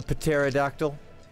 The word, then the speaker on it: pterodactyl: hear a pterodactyl urinating the p is silent I'm sorry a pterodactyl so he this is